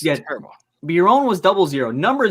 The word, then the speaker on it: Biron: Martin Byron of the Buffalo Sabres. Martin Biron? Biron. See, I told you. I Martin suck at Biron.